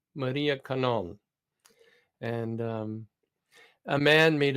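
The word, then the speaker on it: Kannon: Buddhists who had a Devotion to Maria to Canon but that was their Devotion to the Blessed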